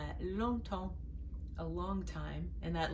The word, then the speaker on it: longtemps: Longtemps. It's kind of a nasal. You don't say the G, it's just nasal. Longtemps, a long time.